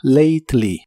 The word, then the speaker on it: lately: y usaremos la palabra lately que significa últimamente la a de esta palabra se pronuncia como ei y la e no se pronuncia lly y usaremos la